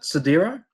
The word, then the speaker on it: Sidero: How do I pronounce it? Sidero.